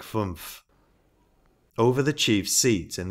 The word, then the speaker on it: fünf: A German of the present day would say for 11, elf, pronounced long like elf, and for 5, fünf, pronounced like fumph.